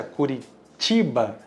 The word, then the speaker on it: Curitiba: Porque a pronúncia Curitiba, o C se fala T, exatamente, no italiano.